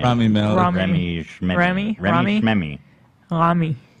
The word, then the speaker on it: Rami Malek: Oh, Remy or I Remy? I don't know how to say his name. Rami Malek.